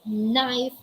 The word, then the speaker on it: knife: this rule listen carefully the letter k is always silent when it precedes the letter n in a word so it only means